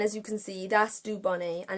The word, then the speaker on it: Dubonnet: And it's called Dubonnet, but it's spelt Dubonnet. So it's like said Dubonnet, but because it's French, it's Dubonnet.